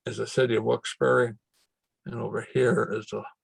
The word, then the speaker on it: Wilkes-Barre: And I pronounce it Wilkes-Barre, not Wilkes-Barre.